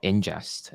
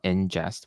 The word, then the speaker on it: Inngest: There's this third one that's called Ingest. It's a new platform that allows you to handle background jobs and queues super efficiently. It's spelled Ingest with two N's, INNGEST.